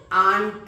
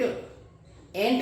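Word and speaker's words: aunt: क्या हो गया हमारा आंट एंट नहीं व चीटी वाला नहीं एंट ये कौन सा है ए यू एनटी बड़ा है आंट अब यू की साउंड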